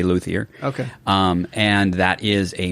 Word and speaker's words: luthier: I was going to ask how to pronounce that, because I was, it's like, is it the French? Do I say luthier? Or, no, most people in America just say luthier.